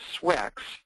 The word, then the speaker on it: SWCX: solar wind charge exchange swcx pronounced swix soft x-ray emission and